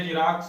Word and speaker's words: Xerox: पढ़ते जीरोक्स हैं, लिखा X से जाता है, ध्यान रखेंगे।